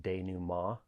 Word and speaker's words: denouement: never heard before and that word is day new ma it's spelled d-e-n-o-u-m-e-n-t and